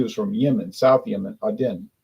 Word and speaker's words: Aden: from Yemen South Yemen Aden I thought it was pronounced Aiden Aiden but she says pronounced Aden she's from there she